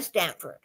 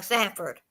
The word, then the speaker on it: Sanford: Oh, Sanford. Okay. Sanford. I I'm pronouncing it wrong. Sanford.